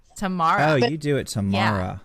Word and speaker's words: Tamara: But I'm from the South, so I pronounce it Tamara because we just like drag we just shorten shit in the South. So we just don't even pronounce that.